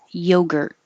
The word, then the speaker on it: yogurt: that common to hear yogurt yogurt the you are sounds like er and hold the tea yogurt the e is not stressed so you can say